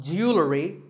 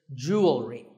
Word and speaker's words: jewelry: It's spelled differently in American and British English, but it's pronounced the same. Jewelry. Jewelry. It's not jewelry and it's not jewelry. It's jewelry.